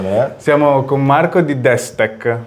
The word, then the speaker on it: Destec: Siamo con Marco di Desktech. Ho detto con l'accento esatto, corretto, giusto perché corretto.